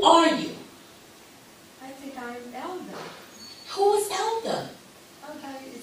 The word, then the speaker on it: Elda: E-L-D-A. Oh, Elda. Okay, I got you. I want to say elder, so I'm glad you helped me.